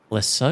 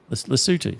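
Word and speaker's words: Lesotho: Um take the example of Lasso. Is that how you pronounce it? Lutu.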